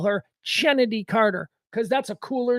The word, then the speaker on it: Chennedy: the Bench okay so apparently she pronounces it Kennedy she just spells it with a CH I am going to continue to call her chennedy Carter because that's a